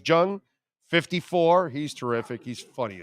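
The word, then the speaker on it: Jeong: Ken young Jung or Jang Jung how do I pronounce it Ken Jung the comedian it's Jung 54.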